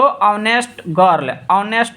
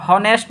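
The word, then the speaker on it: honest: हॉनेस्ट नहीं, हावर नहीं, Honor नहीं, ऑनेस्ट, ठीक है, आवर, ऑनर।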